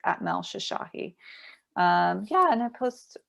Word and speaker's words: Shoshahi: on instagram that's easiest it's just at mel shashahi so if you guys see my last name